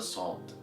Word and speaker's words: ص: Alright, to pronounce the letter Sod, you need to take care and focus on where your whole tongue is moving.